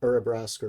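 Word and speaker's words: Urabrask: got urubrusk's forage uh uribraska or brask I've heard it pronounced both ways is the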